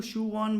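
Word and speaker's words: Sichuan: इसको सियुआन बोलते हैं दोस्तों, इसकी प्रोनाउंसिएशन।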